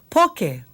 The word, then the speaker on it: poke: a little ha and Bento okay laow right poke that's our other word okay poke this is